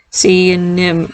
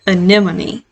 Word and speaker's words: anemone: have these clownfish and sea and nym oh goodness gracious everybody's gonna be like what are you pronouncing that wrong i believe you pronounce it anemone um these are for